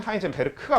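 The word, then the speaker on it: Heisenberg: 사람이 두 사람이 있는데 한 사람의 이름은 하이젠베르드라고 하는 사람입니다 정확한 발음으로는 하이젠 베르크가 맞긴 해요 근데 뭐 보통 이렇게 많이 적더라구 이게 g로 끝나는 건데 독일에서는이 쥐를 크로 읽거든요 정말 쓸데없는 정보죠 아무튼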